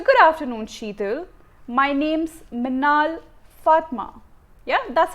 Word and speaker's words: Meenaal: and slowly TK so instead of saying my name is Minh all Fatma I would say my name's Manal Fatma right so I'm just stressing on what my name is so it's clear and evident as to what my pronunciation is you don't want